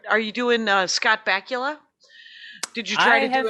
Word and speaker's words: Bakula: supposed to be disappointing scott bakula's name rhymes with butt krakula i mean there's nothing